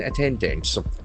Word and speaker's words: attendance: Attendance the accent for the second attendance.